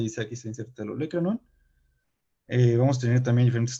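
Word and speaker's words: olécranon: Se pronuncia olecranon.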